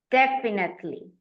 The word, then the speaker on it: definitely: Definitely. Definitely. The stress goes on the first syllable.